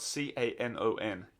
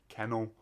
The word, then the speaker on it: Canon: It's spelled C-A-N-O-N. Canon. Canon. Like the camera.